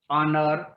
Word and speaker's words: honor: Here words begin with H, consonant, but in pronunciation the H is silent. Honor, honest, or.